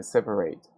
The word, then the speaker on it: separate: Even though the verb separate ends in e, the e is not pronounced. So we pronounce t, we say separate, and so the past must be pronounced separated. Okay, attend ends in d, we say attended. Visit, visited. Decide, decided. And wait, waited. Okay, once again, the t is pronounced as r in American English because